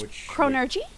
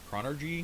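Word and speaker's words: chronurgy: n u r g y yes so it's chronergy yeah which yeah that's why I pronounced it so weird earlier chronergy chronergy chronergy it's it's Tom magic one of the two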